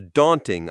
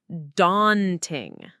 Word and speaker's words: daunting: It's an a sound like in saw or law. So, it's daunting.